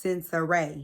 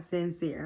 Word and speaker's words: Sensa Rae: hills california damn y'all her name is sensa rae not sincere okay and she just